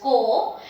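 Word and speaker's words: को: The first one that I am going to take is ka with O ki matra, which is just ko, and ko is a post position in Hindi which means two.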